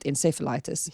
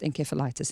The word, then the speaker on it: encephalitis: In the US, they pronounce it encephalitis. If you're listening to me going, you said that wrong, it is pronounced encephalitis in the UK only.